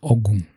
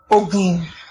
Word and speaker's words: Ogun: This is another one where there's a word that when used in a different tone and a slightly different pronunciation means 5,672 different words. Yes. This one is Ogun.